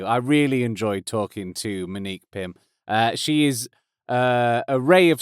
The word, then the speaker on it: Monique: No O in that, it's just M-Nique Pym, from Reliqa.